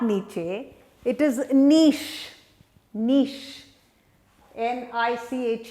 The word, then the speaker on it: niche: call a nice ehe and it is not pronounced to Nietzsche it's not open each it is not Nietzsche it is niche niche and I CH e is niche niche